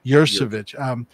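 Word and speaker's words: Yuricich: I think that's part of the incredible skill that, how do you pronounce his last Matthew name? Matthew Jurasich. Jurasich.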